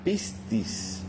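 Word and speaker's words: πίστις: Entonces, para empezar, la palabra fe es una palabra griega que que se escribe o suena pistis.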